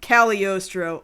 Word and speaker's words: Cagliostro: They pronounce it Cagliostro. Although it's not really like Cagliostro, because Cagliostro, the G is just straight up silent.